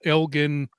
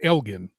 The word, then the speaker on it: Elgin: Or Elgin. I should say it correctly. Elgin's the way we say it in Texas because of the town. Right next to Austin, it's Elgin. Sorry, folks. Sorry, folks in Illinois.